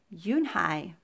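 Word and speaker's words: Unhei: nodded slowly yes it's pronounced yoon hai and it means grace mr kim added yoon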